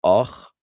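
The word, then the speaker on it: אח: The Ashkenazim differentiate it with the vowel. This word we're looking at here is ach, and the word for brother is och.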